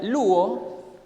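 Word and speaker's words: λύω: se traduce como lab en el original que se pronuncia luo tiene un significado mucho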